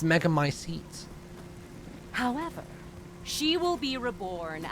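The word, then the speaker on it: Megamycete: my seat catalogues all of them oh it's pronounced mega my seats however she will be reborn as my daughter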